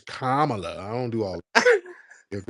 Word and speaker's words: Kamala: It's not Kamala. It's Kamala.